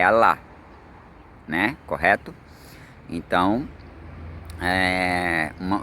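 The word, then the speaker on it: Allah: E olha que interessante, pros muçulmanos, a pronúncia do nosso criador é a lá, né?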